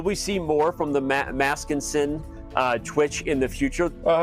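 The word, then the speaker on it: Maskenissen: I probably mispronounced it, but I think it's Maskinissen. Correct. Will we see more from the Maskinson Twitch in the future?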